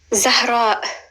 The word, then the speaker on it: Zahra: Zahra. Zahra. There's the letter Z, which we start with, Z. Then it's a short like Amelia, Z. And then it's a H, a very soft H.